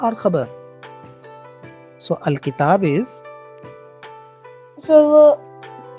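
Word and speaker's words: خبر: Let's pronounce the Arabic terms. Mubtada or khabar.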